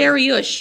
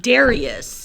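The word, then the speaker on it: Dariush: Derosh. Yeah, cuz it's not pronounced Darius.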